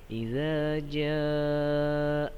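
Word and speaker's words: إِذَا جَاءَ: Idza jaa. Nah, za yang pertama lidah kita sedikit digigit ujungnya ya. Za. Idza jaa. Nah, za yang kedua dibacanya lebih panjang 6 harokat.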